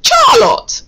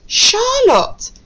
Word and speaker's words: Charlotte: Okay, we are still pronouncing our letter CH here as sh.